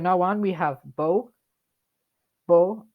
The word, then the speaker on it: beau: Beau. It's a lot of vowels at once, but it's just beau.